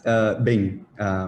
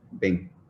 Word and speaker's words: Binh: It's Binh. Bean. It's kind of it kind of goes down. Yeah, Bean. Binh.